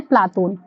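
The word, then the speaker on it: Platon: इसका यूनानी उच्चारण है प्लातून। यानी प्लेटो को हम लोग यूनानी लैंग्वेज में कहना चाहेंगे ना तो प्लातून कह सकते हैं। और इसी चीज को अरबी में कहना चाहेंगे, तो अरबी में क्या कहेंगे? अफलातून कहेंगे। और इनका मूल नाम क्या है? अरिस्टोक्लिज है। तो, मतलब यूनानी उच्चारण प्लाटून है, अरबी में अफलातून है, मूल नाम अरिस्टोक्लिज था।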